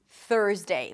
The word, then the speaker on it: Thursday: Stick the tongue out for the TH. It's a voiceless TH. And then pull it in for the R. Make sure the tongue doesn't touch anything on the way in. And elongate the R a little bit. It's a stir sound, so it's a longer vowel.